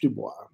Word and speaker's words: Du Bois: the chance to teach Dubois Dubois is how it's supposed to be pronounced but you know from a French background that's it's it's really tough not to read it that way yeah I've read him